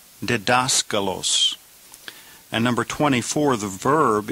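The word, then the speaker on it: διδάσκαλος: So 23 the noun is pronounced dedascalos. Dascalos.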